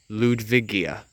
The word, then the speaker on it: Ludwigia: here we have an example of red luigia ludwigia I think that's how it's pronounced that's where the main batch right here